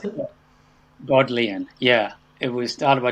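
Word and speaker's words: Bodleian: a little bit about is it called the berlinian library is that how you pronounce it god leanne yeah it was started by thomas modelling yeah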